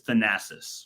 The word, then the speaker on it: Thanasis: His name is Thanasis, right? But the podcast is called Thanalysis.